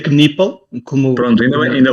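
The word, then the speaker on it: Knueppel: Primeiro, em relação ao nome, ele pronuncia Kipple.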